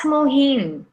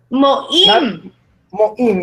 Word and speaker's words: Moin: good so let's ask mohin mohin how is it going for you okay uh first I should notify one thing uh that is my correct pronunciation of my name is moin yes very good thank